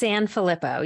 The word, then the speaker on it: Sanfilippo: mispronounced your last name it's sanfelippo you were close yeah thanks so much